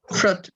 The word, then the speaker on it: fruit: fruit fruit fruit fruit fruit remember the eye is silent yes should it eat